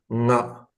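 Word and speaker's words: が: But their actual Japanese pronunciation is nga. Nga. So this is like the Tibetan nga. Uh-huh. It's not ga, it's nga.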